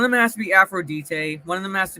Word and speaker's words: Aphrodite: I thought it was pronounced Aphrodite. In the actual Greek, if I'm remembering correctly, it's actually pronounced Aphrodite. But in the, kind of like an English pronunciation, it's Aphrodite. Yeah.